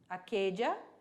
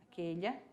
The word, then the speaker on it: aquella: Aquele, aquelha, aquelhos, aquelhas. Então, lembrando ali que a pronúncia do LL vai depender muito do falante. Então, você pode falar como eu falei, aquella, ou pode falar aquelha, certo?